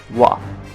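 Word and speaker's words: は: japan we can also see that ha is pronounced as wah but that's not the end now you're going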